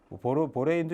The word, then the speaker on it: 보레인: 네, 이름은 보레인이 됩니다. 보레인. 한때는 보란이었는데 보란 듯이. 근데 요즘은 이제 다 애인에 해당하는 발음으로 다 통일시켰죠. 그래서 보레인이라고 할 거고요.